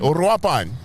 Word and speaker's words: Uruapan: other kitas place I think right wapan Uruapan Uruapan good pronunciation look at you but if I gave